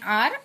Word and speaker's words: hour: Here for hour we are using H, an, though here H is silent. So an hour and a minute.